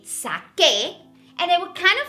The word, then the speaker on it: saqué: Therefore, we have to change that C to a QU to keep that hard C sound. So now we would say saqué, and it would kind